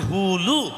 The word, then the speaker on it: হুলু: বলে সপ্তবিধান ঠিক তদ্রূপ ওই উলু হবে না উচ্চারণটা হবে হুলু আচ্ছা মায়েরা যদি হুলুর